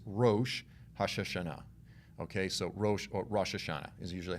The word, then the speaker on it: Rosh Hashanah: will know is rosh hashanah okay so or rosh hashanah is usually how it's said now this is